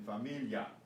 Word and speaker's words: familia: This is pronounced ya, as in familia, familia. Not familia, familia. It's a diphthong, it's a vowel blend.